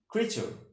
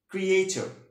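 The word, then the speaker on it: creature: বলে রাখি, সেটা হচ্ছে আমরা কিন্তু এটা উচ্চারণ করি ক্রিয়েচর। ওকে, ক্রিয়েচর উচ্চারণটা কিন্তু সঠিক নয়। আমেরিকান প্রনাউন্সিয়েশনে উচ্চারণটা হবে ক্রিচার, ক্রিচার, ক্রিচার। ওকে, আর ব্রিটিশ প্রনাউন্সিয়েশন হবে হচ্ছে ক্রিচার, ক্রিচার, অর্থাৎ আরটা সাইলেন্ট থাকে, আরটা সাইলেন্ট থাকবে।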